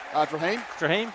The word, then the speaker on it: Drahim: Drahim, the bowler. Drahim? Drahim, excellent. I've been saying it right.